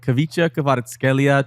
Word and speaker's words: Khvicha Kvaratskhelia: All right, Khvicha Kvaratskhelia to PSG. Khvicha. That's a plus for you for the pronunciation, Kvaradona.